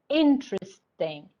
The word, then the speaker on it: interesting: So you ask them to repeat, interesting, interesting, interesting. So the stress is at the beginning, okay?